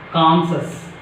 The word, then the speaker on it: conscious: And next one is conscious. It's not conscious. We are pronouncing wrong.